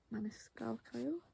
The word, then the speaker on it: Maniscalco: I have Throne of the Fallen by Kerry Maniscalco, that's how you pronounce it, and of course Silver Flames by Sarah J Maas, which is book 5.